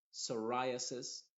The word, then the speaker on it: psoriasis: Y en palabras que empiezan con PS, la P es muda y la S suena como S. Por ejemplo, psychic, psychology, ¿qué más? Pseudonym, psoriasis, pseudo, pseudoscience. ¿Te das cuenta? En ese contexto la P es muda y la S es la que se está pronunciando.